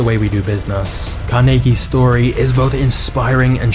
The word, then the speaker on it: Carnegie: the reason I'm saying Carnegie instead of Carnegie because this is how the Scots actually pronounce it but Andrew's starting life